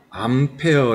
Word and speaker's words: 암페어: 단위 를 사용하게 되는데 알파벳 a 를 적고 a 라고 얘기만 됩니다 바로 뭐 나오겠습니까 암페어 라고 읽게 되는 겁니다 같이 한번 해볼까요 전류가